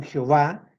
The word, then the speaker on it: Jehová: Así que las dos pronunciaciones más comunes en realidad son Jehová, que es una pronunciación latina utilizada desde el siglo XVI, y Yahvé, que es un intento de pronunciar las palabras según una interpretación hebrea más literal.